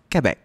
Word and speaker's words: Quebec: It's pronounced Quebec.